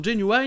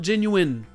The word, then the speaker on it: genuine: dont certains l'ont appris il semblerait que la prononciation jinwei n'existe plus du côté du sud des états unis par exemple en particulier avec les personnes âgées pour qui cette prononciation était plus utilisés il ya un petit moment de ça mais si vous voulez utiliser ce mot la prononciation officielle et bien genuin et voilà pour seedorf